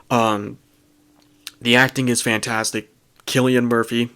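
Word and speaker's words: Cillian Murphy: the acting is fantastic Killian Murphy that is how you pronounce his name by the way I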